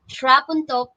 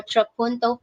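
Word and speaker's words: trapunto: then finally we have trap until painting or troponto painting depending on english of america but both pronunciations are correct so what is this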